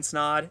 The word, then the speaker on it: Snod: you guys my name is snod it rhymes with odd and I'm out peace